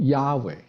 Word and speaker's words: Yahweh: 間，就可以發音讀 Yahweh 嚇 Yahweh 呢個字，一路